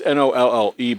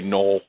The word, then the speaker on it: Nolle: We misspelled it on purpose because it's Nolle, but everybody'd say Knoll. So, so that's like so we put Nolly so people say it correctly.